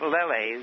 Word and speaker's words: Lele: He did have Lele, was the way you pronounce it, Leonard, who he was with for